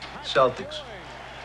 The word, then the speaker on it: Celtics: Celtics. You know, it's actually pronounced Celtic. What is? Celtic. You telling me the Boston Celtics are actually the Boston Celtics? That is correct.